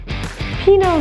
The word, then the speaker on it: Pinot: Pinot Noir. The T is silent in Pinot, so it's Pinot. Noir, it's that R sound, O-I-R. It's quite difficult, but it's beautiful when you say it correctly. Pinot Noir.